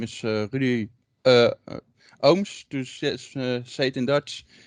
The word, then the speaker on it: Ooms: ohms to satan dutch i know the last name is a little bit difficult to pronounce but most of them pronounce it like oomps or something like that but it's ohms but um i will